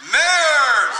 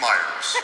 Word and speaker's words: Meyers: Ladies and gents, your competent MC for this evening, Mayers. By the way, he wrote every sentence of that. He did. Except the mispronunciation of my name. It's Myers.